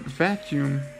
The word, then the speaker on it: vacuum: that's cool and all except for the fact that vacuum actually has three syllables what's that about well this is because the two u's actually make different sounds you see the world